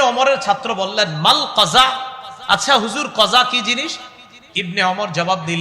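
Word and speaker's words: قزع: বলেন আমার সাথে সবাই কজা বলেন আবার বলেন কজা কফ যা আইন বানানটা কজা বলেন কজা করা নিষেধ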